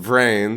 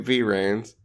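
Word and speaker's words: VRAINS: it hasn't ended yet it's ongoing and it's pronounced brain so stop calling it V reins motorcycles no they're on like hoverboards cool I'm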